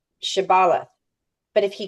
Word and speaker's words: shibboleth: If the man replied that he was not, then they demanded, say Shibboleth. But if he couldn't pronounce the H and said Sibboleth instead of Shibboleth, he was dragged away and killed.